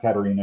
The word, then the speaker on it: Katharina: pronounced Katerina in German.